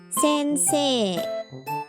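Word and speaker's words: 先生: For example, teacher is pronounced sensei and traffic light is pronounced 信号.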